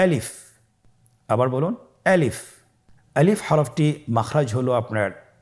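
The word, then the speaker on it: ألف: বলতে হবে বলুন আলিফ আলিফে কিন্তু কোন টান নেই আপনারা বুঝতে পারতেছেন আমি যখন আলিফ বলছি এর মধ্যে কোন টান হবে না। আলিফ আবার বলুন আলিফ।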